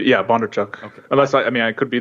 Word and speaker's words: Bondarchuk: For some time, I always think it's pronounced with a V, but it is Bondarchuk, not Bondarchuk. It's with a B, yeah, Bondarchuk.